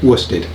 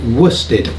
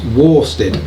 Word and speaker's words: worsted: but it's actually pronounced wusted that's because it's one of those strange british words that's not pronounced in the same way that it is spelt kind of like worcestershire